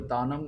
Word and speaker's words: Tanam: That is called a Tanam. Now, when vocalists sing, they sing using the syllables ta nam.